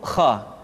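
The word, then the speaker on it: خ: hanha selanjutnya adalah huruf Kha Kha dikeluarkan dari pangkal tenggorokan Kha pangkal tenggorokan diucapkan dengan mengalir nafas atau lebih praktisnya pengucapan huruf k persis terdengar seperti orang yang tidur dalam keadaan mengorok Kha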